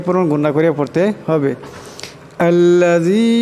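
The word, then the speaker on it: الَّذِي: আল্লাযী এখানে জাল আছে, এই জালের আওয়াজটাকে পাতলা করিয়া পড়তে হবে, নরম করিয়া উচ্চারণ করতে হবে।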